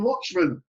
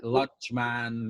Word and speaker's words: Luchmun: very happy actually because you just pronounced my name right i have so many people like say my name different ways yeah is it like lunch man look man oh that's all sorts but you said it right i've only just realized